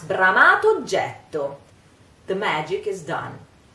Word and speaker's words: bramato oggetto: So, the funny thing now is that we have to pronounce bramato oggetto. The magic is done. The two words become one and we pronounce just one O.